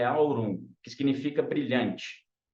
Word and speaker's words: aurum: a palavra ouro ela vem do latim ela tem origem ela pronúncia dela é aurum que significa brilhante e